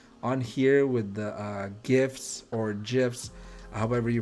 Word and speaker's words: GIF: are you team gif are you team jiff um i know it's graphic something something right so i'm pretty sure it's a gif i used to pronounce